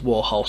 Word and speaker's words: Warhol: next track and bowie deciding to correct his pronunciation of warhol's surname insisting that it's warhol before strumming a